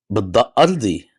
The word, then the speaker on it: Ardi: أرضي يعني بالضاد. Ardi. You want me to say بالضاد أرضي Ardi? يعني. Oh, عظيم. شو do I want to هذا اسمي يعني. أنا Ardi. فلسطيني. I mean, Ardi.